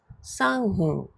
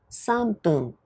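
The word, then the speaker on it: 三分: ippun nifun sanpun yonpun gofun roppun nanahun hachifun kyuufun juppun How do you say 3 minutes? A sanfun B sanpun C sanbun The correct answer is B sanpun Next question.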